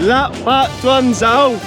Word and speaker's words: gặp bạn tuần sau: Lap pat duan zao.